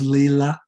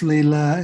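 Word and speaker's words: Lila: actually it's actually pronounced leela okay it's pronounced leela and it's a it's a sanskrit it's a vedic word and it means divine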